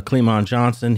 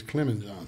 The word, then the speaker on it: Clem Johnson: uh evil which is Clon Johnson he had his brother was Sinister you know you familiar with that family you saying it wrong his name is Clem Johnson Clemen okay my bad his name